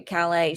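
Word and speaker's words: Calle: her name is Sarah Cali as um you don't pronounce the L okay Calais she is super girl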